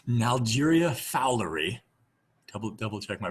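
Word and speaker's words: Naegleria fowleri: I'm just gonna do my broken pronunciation. Nalgeria fowleri.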